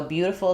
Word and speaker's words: beautiful: So, flap is used for the t and the d sounds in the middle of words in English. So, beautiful is a great example. Beautiful. um where that's a symbol for a flap D. It'll sound like Dful. So, I'm not truly doing a D here. If I were, it would sound like beautiful.